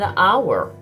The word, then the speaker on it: hour: an elephant, or an hour. Notice I said sound, not letter. The word our starts with an H, but the H is silent.